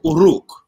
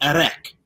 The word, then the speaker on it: Uruk: In the actual, it wouldn't be, I don't remember the language right now, but officially it would be pronounced Uruk. However, the Latinized version of that would be Erek.